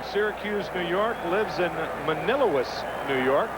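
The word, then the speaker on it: Manlius: new york lives in manila's new york i believe that's the way you pronounce that m-a-n-i-l-u-i-s if it's not i'm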